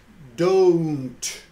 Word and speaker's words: don't: not special it's very common here's another example don't don't we're hearing do double vowel right